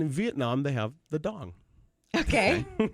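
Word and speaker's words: đồng: And in Vietnam, they have the dong, Okay. which is actually pronounced dom, but it's spelled D-O-N-G.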